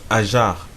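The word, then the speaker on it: هاجر: Wikipédia nous dit que Agar en en arabe veut dire ajar. Donc se prononce ajar qui veut dire migrer, qui a migré et cetera.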